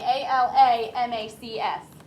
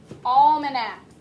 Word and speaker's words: almanacs: Well, but you just said alamacs, which would be spelled A-L-A-M-A-C-S. Is that how it's spelled? Now you're saying almacs. A-L-M-A-C-S. Is that what the word says? All man act. Almanacs. Nope, say the word again.